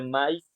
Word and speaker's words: maíz: Entonces, por lo tanto, maíz no es monosílabo, porque en este caso no se dice maíz, se dice maíz, ¿no? O sea que la A y la A suenan separadas.